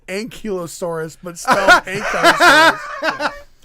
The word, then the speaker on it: ankylosaurus: my son just texted me and said it's pronounced ankylosaurus but still i hate that piercing i didn't